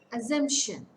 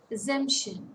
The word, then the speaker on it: assumption: falls on the division assumption assumption it's a three syllable word stress falls on the middle syllable now words ending with